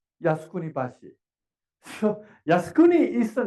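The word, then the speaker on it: 靖国橋: We can have a Jeonggukgyo, but if we pronounce this in Japanese, it is Yasukuni Bashi.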